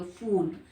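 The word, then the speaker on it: फ़ूल: फूल शब्द का उच्चारण कैसे करेंगे, फूल दांतों के बीच से करेंगे, फूल।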